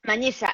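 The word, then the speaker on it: Manhiça: Manisa, Manisa, como si fuera una Mañisa, ñ, Manisa. Mañisa en Mozambique.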